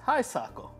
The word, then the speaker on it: Hisako: pronounce it? Hi, Sako. Chase? It's Hisako. Do you think it's Heisako?